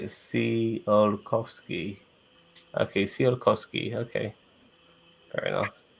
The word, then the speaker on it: Tsiolkovsky: Okay, Um, so apparently I've got to say it like Tsiolkovsky.